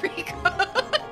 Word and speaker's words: Riku: It's pronounced Riku.